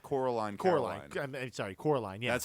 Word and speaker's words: Coraline: Sleepy Hollow Sleepy Hollow sure um uh the Caroline is really good oh Edwood Edwood is hilarious and you called you called Coraline sorry Coraline yeah that's how good that movie was you